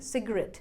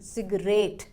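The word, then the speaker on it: cigarette: से पहले लगाया है, मतलब स्ट्रेस देना है हमें लास्ट वाले पार्ट पर, मतलब RET पर। तो सही प्रोनाउंसिएशन बन गई सिगरेट, ना कि सिगरेट।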